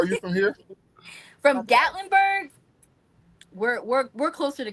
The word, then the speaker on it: Gatlinburg: Still in Tennessee, but it's in how you pronounce it? Gat Gaitlinburg. Gatlinburg.